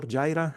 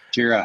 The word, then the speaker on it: Jira: Then we have NetSuite, then we have Jira or Jira, I never know how to say it. Jira.